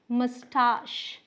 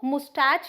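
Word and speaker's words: moustache: इसकी दो प्रोनाउंसिएशंस हैं। ठीक है, आप क्या बोलेंगे, मस्टाश। क्या, मस्टाश, ये सही है, या फिर मस्टैश। क्या बोलेंगे, मस्टैश, तो ये भी सही है। ये आपका हो गया अमेरिकन प्रोनाउंसिएशन, ये हो गया ब्रिटिश। सो मस्टाश और मस्टैश, इसमें च है ही नहीं। सो मुस्टैच या मस्टैच आपको नहीं बोलना है।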